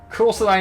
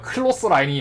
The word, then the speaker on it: 클로스라인: 저거예요 타기라고 해야 되나 크로스라인 아니네요 클로스 라인이 맞네요 어 빨랫 줄에서 다온 어 원인데 아 여태까지 나 여태까지 크로스 라인이라고 불렀는데 클로스 라인이었다 클로스라인 번데기 발음 인생을 부정 당했어 내 인생을 부정 당했어 클로스라인 이었어 원래는 축구의 반칙 기술이라고